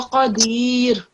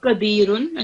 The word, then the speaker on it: قدير: But when you're pausing here, this Dhamma thing will change into Sakoon. So Qadir, not Qadirun, okay?